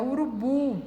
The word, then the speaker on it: urubu: Ali, a segunda é urubu, é uma oxítona, porque a sílaba mais forte dessa palavra é a última.